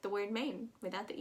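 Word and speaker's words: Maine: going up we have main main super easy in my opinion mane that a i sound is pretty common and um it just sounds like the word main without the e so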